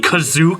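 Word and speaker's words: Kashyyyk: see with 3-1 or as they like to pronounce it in the movie Kazu due to suspected rebel activity on the cazuca planet the Empire has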